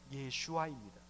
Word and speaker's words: 예슈아: 예수님의 어떤 면에서는 히브리식 발음은 예슈아입니다.